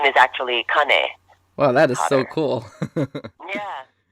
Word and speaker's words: Kane: hawaiian ties growing up his name is actually Connie well that is so cool did you do